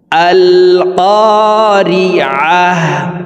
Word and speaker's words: ক্বারিআহ: আল ক্বারিআহ আল ক্বারিআহ, আইন হরফকে হলকের মধ্যখান থেকে উচ্চারণ করব। আমরা অনেকেই এভাবে পড়ি আল ক্বারিআহ।